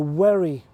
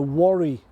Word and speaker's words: Wherry: recess in the cliffs called the Wherry, or as the locals pronounce it, the Worry.